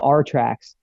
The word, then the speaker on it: RTRAX: all that and um it's called our tracks it's uh it's spelled a little weird it's r-t-r-a-x and uh what it is is it stands for our tracks and what we leave